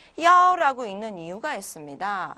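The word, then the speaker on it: 一: 그래서 이런 것들 말고도 굉장히 많은 경우에 야오라고 읽는데 이제 그거는 그때그때 보도록 하고요. 우선 많은 경우에 이제 이렇게 신분증 번호, 차 번호 뭐 이렇게 숫자가 여러 개 있을 때는 우선 야오라고 읽습니다.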